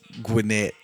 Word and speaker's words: Gwinnett: Is Gwinnett County not Gwinnett? I think that's how most people pronounce it that never heard of Gwinnett County. But yeah, it's Gwinnett, not Gwinnett.